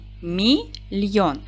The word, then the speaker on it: мільйон: в зошит Давайте перевіримо поділимо слово на склади мільйон наголос падає на другий склад м це М'який приголосний